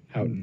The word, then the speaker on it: Houghton: Houghton Mifflin? Houghton. That sounds great. Is that how it's pronounced?